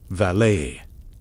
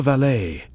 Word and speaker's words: valet: The valet, pronounced valet, never valet, in the British aristocracy.